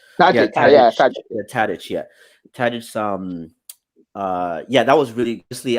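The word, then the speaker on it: Tadić: So that's kudos, and I'll share my kudos also to Dusan Tadic.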